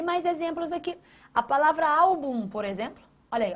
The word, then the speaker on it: álbum: A tonicidade da palavra está nessa sílaba aqui, ó. Au, você não fala album, você fala album. Tá vendo? Está vendo a diferença?